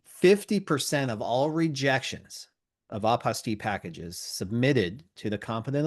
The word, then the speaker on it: apostille: I like using the pronunciation apostille because it rhymes with unrestricted fees.